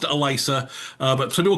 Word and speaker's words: Alyssa: So, uh it's it looks like Alyssa, but it's pronounced Elisa. Uh but some people call you Eliza.